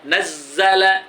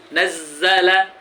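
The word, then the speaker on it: نَزَّلَ: Nazzala, zanya jadi dua itu, Bu. Nazzala, karena berdouble dia bertasydid. Satu mati, satu hidup. Jadi double Z-nya. Nazzala.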